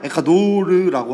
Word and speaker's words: 에콰도르: 스페인어로 하면 에콰도르라고 하거든. T가 D 발음이 나거든.